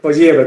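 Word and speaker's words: Poilievre: Poliebre, como si fuera pollito. Ya. Poliebre, si no me acuerdo se pronuncia Poliebre, es un nombre francés.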